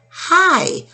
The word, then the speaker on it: high: It says a long I, and all we hear is I, high, up high. So in this case, I-G-H just says I. You do not hear the G or the H.